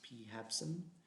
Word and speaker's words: PHABSIM: PHABSIM, that's how it's pronounced, PHABSIM, Physical Habitat Simulation Model, which is another environmental flow assessment method.